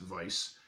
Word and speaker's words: Weiss: It is by Zhe Chun, as well as Weiss, W-E-I-S-S, which is pronounced Vice, and Dan McDade artwork.